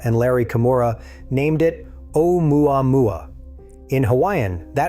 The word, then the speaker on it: 'Oumuamua: Larry Kimura, named it 'Oumuamua. In Hawaiian, that roughly translates to a messenger from afar arriving first. And that opening character is not an apostrophe. It is an okina, a Hawaiian glottal stop.